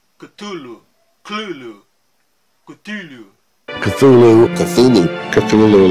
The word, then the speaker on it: Cthulhu: humanos, mas que é tradicionalmente transcrito com as sílabas Cthulhu, Cthulhu, Cthulhu.